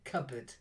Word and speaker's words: cupboard: groped groped that's it and cupboard it's a silent pea cupboard cupboard that's it let me just add that silent P okay and then this